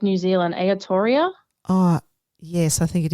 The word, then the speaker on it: Aotearoa: Aotearoa? Oh, yes, I think it is Aotearoa.